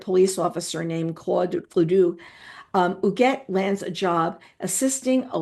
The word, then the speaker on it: Huguette: And yes, I looked at that pronunciation, people. Be very proud of me, Huguette.